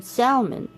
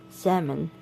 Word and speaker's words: salmon: You probably could hear a little L in there, but it's mostly silent.